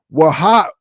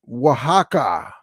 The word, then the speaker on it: Oaxaca: MKI Sports says, it's pronounced Waha. Okay, there we go. Thank you. It's pronounced as Oaxaca.